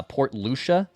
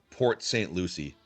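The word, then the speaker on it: Port St. Lucie: Uh, Port Lucia, is that how you pronounce it? Port St. Louis. Port St. Lucy.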